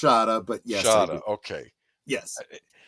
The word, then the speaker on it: Shada: Shada with the snake at the end it's pronounced Shada but yes sh okay yes the the snake